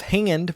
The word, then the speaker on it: Haand: mark warren he's one of the co-founders of hand which is spelled h-a-a-n-d which is a porcelain tableware manufacturer